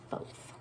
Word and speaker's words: Thoth: Union of Isis and Thoth, or Thoth, depending on how you want to pronounce it.